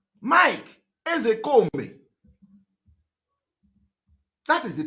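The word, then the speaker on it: Ozekhome: Ezekome is the real pronunciation in Igbo language.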